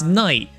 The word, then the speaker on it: Nyct: It's night. NYCT. The C is silent.